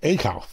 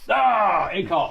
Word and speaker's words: ACCCOLPH: ACCCOLPH. ACCCOLPH. We nailed it. Walk us through what that mouthful is. ACCCOLPH basically is prostate cancer awareness 501c3 that I started after I defeated cancer. And the name ACCCOLPH is actually an acronym.